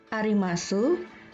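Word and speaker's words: あります: Untuk kata desu, arimasu, gozaimasu, huruf U tidak diucapkan. Jadi, desu berbunyi des, arimasu berbunyi arimas, gozaimasu berbunyi gozaimasu.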